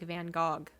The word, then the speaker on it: Van Gogh: Have we discussed Van Gogh? It is actually pronounced like Van Gogh. Gog.